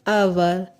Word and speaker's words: hour: An hour, an honest man, an honorable man. Here H is silent. In all cases H is silent.